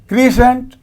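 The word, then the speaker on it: crescent: क्रीसेंट, इसमें भी एस सी है, एस का उच्चारण हो रहा है, सी साइलेंट है।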